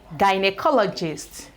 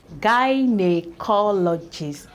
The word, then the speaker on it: gynecologist: This is pronounced as guy, by, guy.